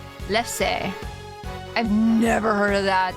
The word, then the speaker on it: lefse: For real, it's pronounced lefse. Lefse. Okay. I was trying to figure out how to pronounce the last part of it. If it was like lefse, lefse, or if it was just a silent E, lefse.